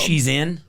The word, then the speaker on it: Shein: Yeah, Shein is how it's spelled. She's in.